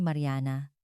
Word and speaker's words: Mariana: Ako si Mariana. Kapag binibigkas ang pangalan ko sa paraang Brazilian, may bahagyang pagtaas sa dulo na nagbibigay dito ng masiglang tunog.